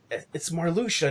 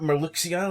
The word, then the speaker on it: Marluxia: Like it's this, not that, and it's like it's Marluxia, not Marluxia.